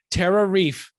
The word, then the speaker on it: TerraReef: TerraReef. It rhymes with beef.